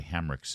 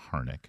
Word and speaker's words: Hamrick: And I mispronounced Pastor Gary Hamrick's name. I don't know why I called him Harnick instead of Hamrick.